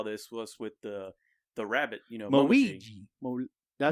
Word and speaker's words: Momiji: this or saw this was with the rabbit, Momiji. Did I say it right? Momiji, yeah.